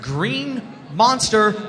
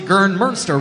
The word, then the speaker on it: GRNMNSTR: We got here Green Monster Roller Sports. It's actually Gernmünster Roller Sports. It's spelled GRNMNSTR Roller Sports, so Green Monster without any vowels.